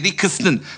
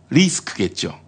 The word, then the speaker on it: 리스크: 그만해 당신이 이 당을 떠나지 않는 한 새누리당의 리크스는 당신도 다 짊어져야 한다고. 그걸 몰라? 리크스는 아니고 리스크겠죠. 위키리크스가 뭔데? 미국의 큰 위기를 불러왔잖아. 리크스는 그 누수라는 뜻이죠. 리스크는 위험이고요. 네, 스펠링도 달라요. 리크스는 L, 리스크는 R.